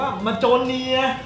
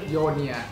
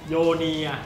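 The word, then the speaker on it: Mjölnir: หลาย หลาย คน เนี่ย อาจ จะ ออก เสียง ว่า มาเนีย อะไร มั่ง แต่ จริง ๆ นะ เสียง ที่ ถูก ต้อง ก็ คือ โยเนีย โยเนีย นะ ฮะ ชื่อ คอส สาย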